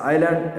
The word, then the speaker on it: island: It's an island as is silent.